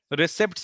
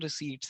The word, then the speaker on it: receipts: क्या, रिसिप्ट्स भी बोल सकते हो, वैसे करेक्ट प्रोनाउंसिएशन रिसीट्स है।